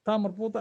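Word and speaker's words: تاء مربوطة: Now when you are pronouncing this, you say maftuha, marbuta, ha, ha. You are pronouncing ha because ta marbuta at the end is pronounced like ha at the end.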